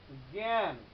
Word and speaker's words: জ্ঞান: সেক্ষেত্রে কি হয় দেখো, আমি যদি জ্ঞান লিখি, তাহলে আমরা উচ্চারণ করি কিরকম, জ্ঞান, গয় জফলায় আকার চন্দ্রবিন্দু এবং দন্তন্য হসন্ত, জ্ঞান, জ্ঞান।